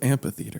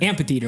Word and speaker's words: amphitheater: But Well, I think it's spelled AMPH. Amphitheater, but you don't say the PH, you know?